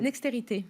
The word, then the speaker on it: Nextérité: Vous dites Nexterit ou Nextérité? Nextérité. Nextérité, j'avais la bonne prononciation.